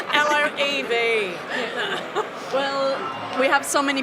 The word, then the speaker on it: LOEV: My last words to the whole world is, by the way, it's LOEV. Well, we have so many people spelling our name wrong, but we like it.